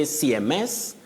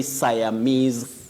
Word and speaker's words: Siamese: word for the same you don't say cms cms you say siamese twins twins Siamese twins, not CMS twins.